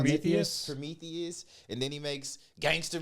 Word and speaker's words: Prometheus: what is it how do you say it pronounce prome Prometheus and then he makes gangster movies too like